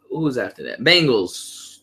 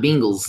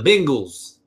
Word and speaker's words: Bengals: Sunday was watching football you calling the Bengals cuz I pronounced three ways you have the Bengals the Bengals and the mingles the Bengals now they're not Bingle's not Bingle's and not the bengals it's only they're not the bangles that the bengals the